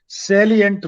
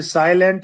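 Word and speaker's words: salient: जाएगा टैलेंट है लीजिए सेलियंट feature of एच डी आज का विशेष तो इसे साइलेंट मत पढ़ लेना पिक्चर ऑफ एअर्थ जीप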